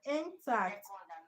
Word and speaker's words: intact: I said look closely and tell me why intact is stressed on the second level.